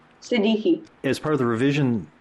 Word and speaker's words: Siddiqui: Siddiqui.